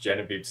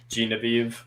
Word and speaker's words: Genevieve: Um for the first three episodes I literally pronounced Genevie's name wrong. I think it I think I pronounced it Genevi or something. Genevieve who's but like